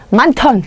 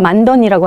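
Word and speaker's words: 많던: 우리는 한국인 화자라 안 배워도 발음합니다. 만턴, 누가 만던이라고 하나요?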